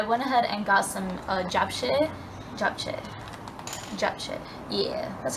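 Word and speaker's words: japchae: uh-huh so I went ahead and got some job jack yeah that's how you pronounce it obviously without the meat and it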